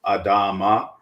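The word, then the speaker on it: אדמה: So that is Adama, right? Strong's Concordance 127, Adama. It is, I'm using the Bible Hub app here for Strong's Concordance. And the noun is feminine. Again, it's pronounced Adama, and the definition is ground, land, earth, soil.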